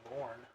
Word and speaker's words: Lorne: middle name's Lorne. No. Like for the Lorne moon. Michaels? No, like Lorne, like the word corn. Yeah, Lorne.